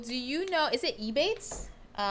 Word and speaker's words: Ebates: Is it Ebates? E-rebates. How do you? they also are identified as Rakuten. Wow. I'm gonna. It's Ebates.